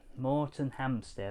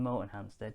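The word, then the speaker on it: Moretonhampstead: days and we're gonna go to the most morton hamster like i never pronounced something i mean morton hamsted motor museum which is fantastic little motor museum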